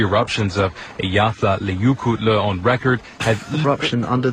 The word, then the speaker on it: Eyjafjallajökull: Pronounced Eyjafjallajökull.